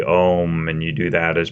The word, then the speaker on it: Om: from somewhere else but the word ohm and and how it's actually three syllables and everything means it